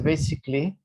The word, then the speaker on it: basically: She was basically, Daniela, basically. Basically. Most of the words like this one, you don't pronounce the A like absolutely, basically, basically.